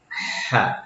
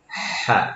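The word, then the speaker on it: ح: Donc, la deuxième lettre, c'est Ha. Elle se prononce au milieu de la gorge. Ha.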